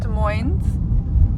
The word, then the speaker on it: Des Moines: We're driving east toward Des Moines. Here we call it Des Moines with an S, the Washington state, rather than Des Moines, Iowa, where we don't pronounce the S.